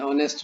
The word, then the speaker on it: honest: Before a noun beginning with H, where H is silent. An honest man, we'll say an honest man.